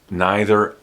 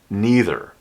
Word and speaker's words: neither: You can pronounce this as neither or neither.